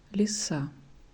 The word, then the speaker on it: лиса: No, it's not stressed. Stressed is A. Лиса.